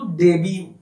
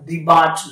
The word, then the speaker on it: debut: made his debut, DEBUT উচ্চারণটা কিন্তু ডেবিউ, উচ্চারণটা ডিবাট নয়, নাহলে মিস্টেক করবে তোমরা। ডেবিউ মানে সূচনা। তিনি তার প্রথম যে কাজটা করছেন, যে বছর, the year যে বছর রাজা মিত্র made his ডেবিউ with Soumitra Chatterjee, মাধবী মুখার্জিজ একটি জীবন।